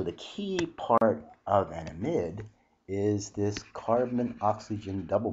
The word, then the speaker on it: amide: molecules and this functional group is called the amide group or amide group depending upon how you want to pronounce it i guess it officially should be a pronounced amide but a lot of people call it a